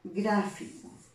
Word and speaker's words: gráfico: Un ejemplo de ello sería, por ejemplo, la palabra gráfico. Gráfico, ¿no? Gráfico lo voy a separar también igual en sílabas, gráfico. Palabra trisílaba, ¿no? Y lleva la mayor intensidad, ¿dónde? En gra, en la sílaba gra.